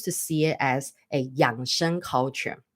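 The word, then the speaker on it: 养生: right I choose to see it as a young Shan culture right a lot of you guys are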